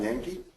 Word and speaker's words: Yankey: Our next speaker this morning is Yankee. Is that pronounced right?